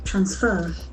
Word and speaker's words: transfer: If you use it as a verb, the accent falls on the second syllable. Transfer.